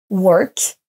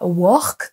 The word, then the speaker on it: work: On ne dit pas work, mais work.